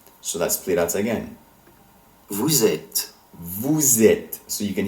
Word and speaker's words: vous êtes: And since the verb form être begins with a vowel, la liaison, the liaison, occurs between it and vous, you formal / plural, giving the S of vous, you formal / plural, a Z sound.